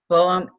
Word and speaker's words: Boehm: Okay, first, the name is Boehm, and it rhymes with game, or as I tell my students, they can remember it by rhyming it with lame.